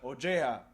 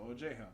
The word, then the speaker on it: Ojea: Ojea. We mispronounced it 50 times in the last road show, so Ojea.